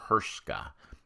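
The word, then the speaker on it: Hruska: It's H-R-U-S-K-A. H-R-U-S-K-A. So I'm saying Hrska. I could be way off with that, but that's how I'm pronouncing it.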